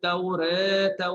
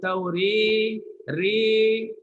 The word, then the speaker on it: التوراة: Cara bacaannya wa anzalat taurata wal injil. At-taurata wal injil. Boleh ya? Jangan turun kuat sangat. Wa anzalat tauri, itu dah condong kuat sangat. Tauri itu dah jadi imalah kubra.